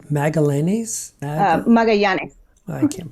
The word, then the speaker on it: Magallanes: Magallanes. I can't pronounce it's Explorer Magellan who came through the Strait of Magellan in the 1500s.